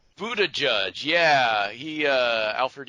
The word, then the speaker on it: Buttigieg: I've never actually heard it pronounced. Buttigieg. Buttigieg, yeah, he Alfred E.